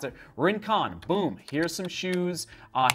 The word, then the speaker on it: Rincon: on the search box and then type in rincon right that's how you pronounce it rincon boom here's some shoes uh here's the ring